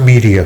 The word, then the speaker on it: Medea: what I said last time, but it's Which Medea? so. Should I just leave? I can get the fuck out of here. I can also. No, It's pronounced media.